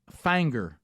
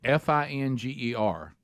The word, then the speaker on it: Finger: Uh and that's Fanger, Tennessee. F I N G- E R and that you don't say Finger, Tennessee. It's Fanger, Tennessee, even though it's spelled that way.